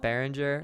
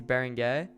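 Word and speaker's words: Beringer: It's not Behringer, obviously. It's Baron Gay. My bad. My bad to all the uh all the French people out there.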